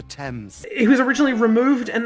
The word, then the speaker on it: Thames: see that doesn't rhyme you can't just say tames because it rhymes with aims it's the River Thames it was originally removed